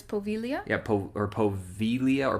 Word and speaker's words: Poveglia: g l i a so it looks like POA for us Americans yeah but it's pilia yeah po or poia